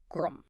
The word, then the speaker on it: Gqom: And this is the birth of Gqom, spelled Gqom, and pronounced with a deep, percussive click like Gqom.